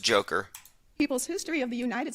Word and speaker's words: Dzhokhar: Boston bomber Dzhokhar Tsarnaev, if I'm pronouncing that correctly, said that reading a It's pronounced Joker.